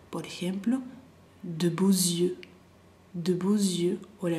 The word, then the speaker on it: yeux: Yeux, yeux. En la boquita bien para adelante. Z, como una mosca, yeux. Y la I, la Y es como una I, E, U, Z, Z, yeux.